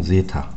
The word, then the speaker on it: zeta: 자, 요렇게 쓰는 거는 xc, 요렇게 쓰는 건 zeta 라고 읽어요. zeta.